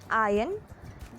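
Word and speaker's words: iron: Well, अगर आप सोच रहे हो हाँ, तो आप बिल्कुल गलत हो, क्योंकि इन सब वर्ड्स का सही प्रोनाउंसिएशन है आयन, डेब्री एंड पोअम।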